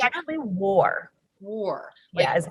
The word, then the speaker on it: Wahr: war because it's actually war war yeah is how we pronounce it technically it's var but right i speak german you know that i